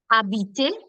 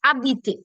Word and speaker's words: habiter: The third example that you saw, which is my verb, I've not spoken the her or the ash any which way. So I've started my pronunciation with the next letter. So it's habiter.